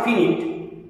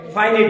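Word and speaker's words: finite: প্রথম ফাইনাইট verb, not ফিনিট, উচ্চারণটি হবে ফাইনাইট verb.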